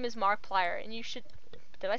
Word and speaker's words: Markiplier: said his name is Markiplier and you should definitely check out his channel when you get the time he does a lot of horror games yeah what he said his name wrong it's Markiplier yeah yes it's that